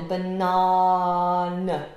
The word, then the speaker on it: banana: So you have to make sure you have this long vowel sound in the middle. Banana.